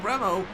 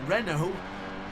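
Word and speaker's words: Renaux: It was Maxime Remo. I keep saying his name wrong. Renault.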